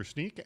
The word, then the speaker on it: Snyk: SSSNYK, but it's pronounced Snyk.